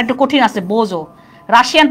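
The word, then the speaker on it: bonjour: দেখো ফ্রেঞ্চে আমরা বলি হ্যালোকে বোজো, উচ্চারণটা একটু কঠিন আছে, বোজো।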